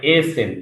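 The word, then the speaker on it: essen: এইসেন অর্থাৎ এইসেন না, ওটা হবে এসেন।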